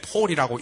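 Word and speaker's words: Paul: 파울루스, 영어로는 P-A-U-L, 폴이라고 읽으면 됩니다.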